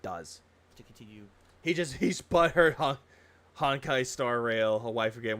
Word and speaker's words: Honkai: I was making a joke with my friends, call it honky, and they're like, it's Honkai. No, it's Honkai.